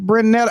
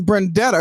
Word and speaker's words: Brendetta: And I was like Brunetta, and I said no, it's Brendetta, because I got to make sure I say it right. That's Brendetta right.